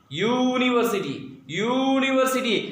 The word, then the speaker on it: university: When we pronounce, the first sound comes here, university. It's not university, it's university. Yagya ka ya, so that means ya sound is there, and ya is consonant.